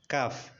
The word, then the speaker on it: calf: The letter L is usually not pronounced after the vowels A, O and U.